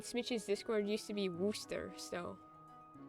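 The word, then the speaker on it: Worcester: Megan was saying how it's not pronounced worsture. It's called pronounced worooster in like the UK.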